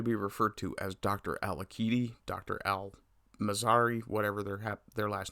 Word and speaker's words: Al-Aqidi: it's an Arabic name, so I pronounce the Q as a K, and the I as an E, so it's Al-Aqidi.